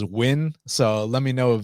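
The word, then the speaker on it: Nguyen: it can be spelled neguyen but it actually pronounces win so let me know if van is actually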